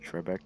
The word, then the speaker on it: Trebek: happened a day ago and how alex uh trebek sorry i'm pronouncing that wrong no that's that's how you